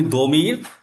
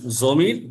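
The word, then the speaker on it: ضمير: একটা আপনার মিক্সড হইছে এবং ফারসিতে আপনার দোয়াতের উচ্চারণগুলো সাধারণত জ উচ্চারণ হয়।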